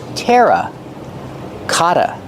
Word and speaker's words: terracotta: talk about these pots pronunciation Tera Kata the dou T makes a fast D Kata Kata these are terracotta pots